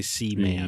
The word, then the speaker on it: Seaman: You got to say C-Man. Yeah. Okay. Man. It's not multiple hombres.